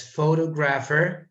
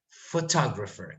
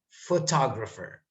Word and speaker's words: photographer: this word uh the majority of people would pronounce this as photographer which is wrong of course photographer can you repeat that mr stream photographer photographer can you say photographer photographer yeah miss